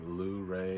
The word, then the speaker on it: Luray: Um, today we rolled into a town called Lurray. L U R A Y. Lay is how they pronounce it here.